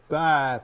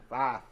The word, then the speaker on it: Fife: Five. It's not five, it's five. Fife.